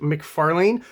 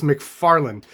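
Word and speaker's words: McFarlane: comes to Tom mcfarling you heard how I pronounce it McFarlan I've been told that it's McFarland so this is a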